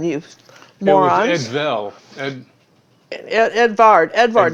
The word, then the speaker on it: Edvard: all right so you have still time it's Edward Edward Ed Ed Edvard Edvard because it's not with a V and